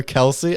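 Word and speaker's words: Kelce: One of the players on the Chiefs said, it's not even pronounced Kelsey.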